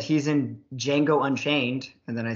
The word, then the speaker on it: Django: i said he's in django unchained and then i said the d is silent but that's what jamie